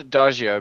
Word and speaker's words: Adagio: we have Save, we have Adiego, we have Tucker Lion, we have a lot of cats. Is it Adiego or is it Adagio? I'd call it Adagio because it's a musical term.